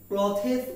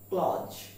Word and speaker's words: clothes: আমরা এটাকে ক্লথেস উচ্চারণ করি অভ্যস্ত, কিন্তু উচ্চারণটি আসলে হবে ক্লজ।